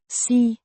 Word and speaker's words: Sig: Imperative form of C to say pronounced C. Similar to the English word C.